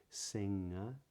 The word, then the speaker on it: singer: So singer, singing, the G isn't pronounced, right? So if I said sing, the G isn't pronounced, but when I say singer or singing, the G is still not pronounced, even though it's in the middle of a word.